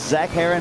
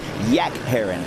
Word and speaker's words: Zach Herron: That's Zach Herron, or as Wes Kane would pronounce it, Yak Herron, down by the river. Yeah. Ack Herron. Not a fan of Z's.